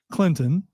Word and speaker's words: Clinton: don't I mean you've been raised to not pronounce the T in Clinton um and and so